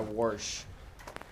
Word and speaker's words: wash: You said that would be a wash, Jake. In Indiana, we call that a warsh. Interesting. Yes, we pronounce an R in there.